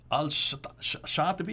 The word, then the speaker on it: al-Shatibi: Al-Shatibi, is that how you pronounce it?